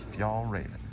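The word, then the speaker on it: Fjällräven: So look for that little fox emblem, and it is a little hard to pronounce, but it is Fjallraven.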